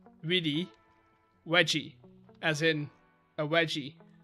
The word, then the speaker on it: vidi: So we would read this in English as veni, vidi, feci, right? But a V in Latin is pronounced as a W. So this would be Winnie, Widdy, Wedgie, as in a wedgie.